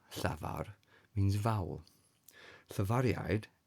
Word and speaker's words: llafariaid: So because the letter I is followed by some vowels, we pronounce it as a y a y sound like the y in u in English.